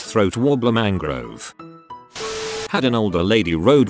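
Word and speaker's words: Raymond Luxury-Yacht: You see, it's spelled Raymond Luxury Yacht, but it's pronounced throat wobbler mangrove.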